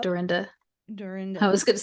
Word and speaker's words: Dorinda: Jackie: And then Aqua and Doreena, is that how you pronounce it? Dorita. Yep. Dorinda.